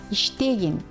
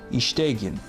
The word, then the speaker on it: иштегин: Please note, suffixes in the imperative mood, as an exception, are unstressed. This means, in their pronunciation, we should put the stress on the previous syllable, not on them.